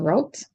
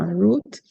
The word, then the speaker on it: route: know for most people the American they use the American pronunciation route the English pronunciation route all right I guess